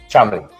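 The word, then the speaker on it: Cholmondeley: Chamley, believe it or not, just Chamley. Chamley. The pronunciation is Chamley. Even though it's so long, it's just Chamley.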